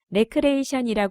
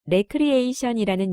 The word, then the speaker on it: 레크리에이션: 주의자들에 의해 처음 사용되었습니다 가끔씩 어떤 사람은 레크레이션이 부르기도 하는데이는 잘 모르고 말하는 옳지 못한 표현이고 발음으로 잘못된 것이므로 앞으로는 반드시 레크리에이션이라는 용어를 공식적으로 사용할 수 있기를 바랍니다 레크리에이션이 용어는 1911년 미국의